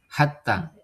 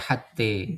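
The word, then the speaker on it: حتى: sebutkan tadi ya itu pada kata hatta tidak dibaca hatte ya gak semua ya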